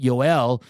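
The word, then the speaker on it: Joel: goendale uh YouTube tra that's that's how you say it yoel uh was fantastic up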